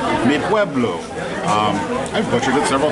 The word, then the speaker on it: Mi Pueblo: my Pueblo dinner finally officially know how to say the name of the restaurant me Pueblo I've got you good